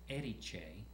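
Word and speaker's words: Erice: in the city uh called Eddie M and it's spelled e r i c e doesn't sound like what it looks like Eddie it's in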